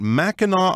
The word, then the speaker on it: Mackinac: in this area so let's learn more about Mackinac Island notice that interesting pronunciation the Jewel of the Great Lakes as